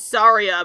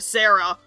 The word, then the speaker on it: Saria: Like, there's not a lot of ways to mispronounce Saria, but we still called her Sarah.